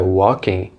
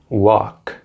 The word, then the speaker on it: walking: vazantes e na pronúncia na palavra Walking o l não é pronunciado assim como no verbo rock portanto não é o Walking UOL quem mas assim walking walking e no verbo também não é UOL UOL mas assim Walk Walk assista agora a parte